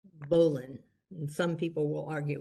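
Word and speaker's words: bowline: and this particular one is called a bolon it's spelled b-o-w-l-i-n-e but it's pronounced bolon and some people will argue with that but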